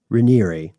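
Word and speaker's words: Raniere: the brainchild of founder Keith reneir which is how we found it pronounced in multiple media sources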